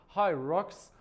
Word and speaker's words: Hyrox: باید تلفظش کرد خب همین طوری که گفته شد های راکس باید به این صورت تلفظ بشه ولی من میخوام بهتون